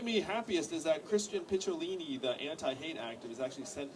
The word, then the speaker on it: Picciolini: He also commended me for pronouncing his name right. Because Picciolini, it's not easy.